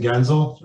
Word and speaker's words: Guenzel: back at me so this is an Americanized way to say it anyway again I'll uh